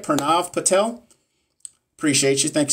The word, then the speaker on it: Pranav: Is it Pranav? Did I say it right? Pranav Patel?